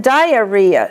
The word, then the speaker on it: diarrhea: Rhea, the accent is on re. As in diarrhea, steatorrhea, blepharopyuria. Re is the accent.